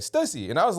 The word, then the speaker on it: Stussy: name the first time and I remember even pronouncing it cuz I was like I've seen this brand before. I'm pretty sure it's pronounced Stucy. And then somebody corrected me. It was like Stussy.